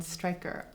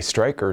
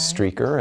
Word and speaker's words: Streicker: And it has a German spelling so often it's mispronounced as streaker.